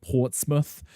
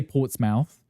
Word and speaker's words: Portsmouth: so many names like Portsmouth. Um I think it was cuz he was Scottish. He used to put a lot of emphasis on the mouth. They would just say Portsmouth.